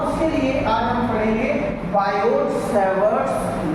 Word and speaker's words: Biot: है बायो Savart law actual में हम इसे बायो सेवट लॉ बोलते है बट उनकी जो पूरा नेम है बायो टी साइलेंट हो जाता है अब बायो का यदि